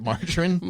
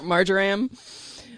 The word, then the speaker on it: marjoram: honeybees like lavender barrage margarine wait margarine marjoram i don't know how to pronounce it oh no not like buttercream j-o-r-a-m not butter okay okay oh that's